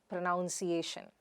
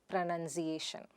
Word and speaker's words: pronunciation: We say pronoun, pronounced, pronouncing, but not pronounciation. But pronunciation.